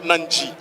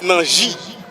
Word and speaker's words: Nani: I was pronouncing his name English the entire tournament. He came up to me tell me my name is not Nanji, it's Nani.